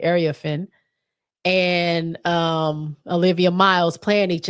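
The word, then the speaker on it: Iriafen: That's how you say it, Ariafin.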